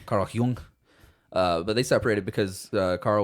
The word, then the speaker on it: Jung: Spelled with a J, not a Y. Carl Jung.